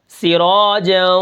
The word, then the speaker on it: سراجا: کو میں رواں پڑھ کے بتاؤں گا، جیسے سراجا وہاجا۔ ٹھیک ہے، یہ رواں ہے۔ اب اس کے ہجے کرتے ہیں، دیکھتے ہیں کہ اس کلمے